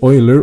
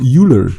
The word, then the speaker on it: Euler: ika or ika or the oiler or euler see this is cool like you can you can pronounce it in so many different ways uh the euler or euler going down i think euler is is the closer original pronunciation so we're gonna stick